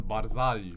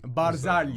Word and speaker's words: Barzagli: Yeah, that's the Barzagli. Barzagli. Barzagli. Yes. They don't Silent pronounce G.